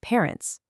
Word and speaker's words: parents: Mom and dad are your parents, which is spelled literally just like it is in English, but you drop the hard consonant and give it that silent s at the end.